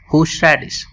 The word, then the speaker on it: horseradish: ऑफ द डे है होशराडिश। तो आइए सबसे पहले हम सीखते हैं इस वर्ड को प्रोनाउंस कैसे करना है। तो अगर हम ब्रिटिश स्टाइल फॉलो करते हैं तो हम बोलेंगे होशराडिश।